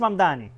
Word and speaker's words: Mamdani: Fíjense, nadie sabe pronunciar mi apellido. Es Mamdani.